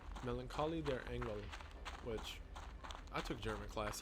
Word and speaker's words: Melancholie der Engel: Melancholie der Engel, which I took German class, yeah, that's how it's pronounced, which translates to The Melancholy of Angels,